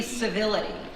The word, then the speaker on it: civility: the thing could be civility. That word goes down really easy. Its sound is so smooth, so sibilant, with its soft C start. Even its T at the end is actually a gentle D.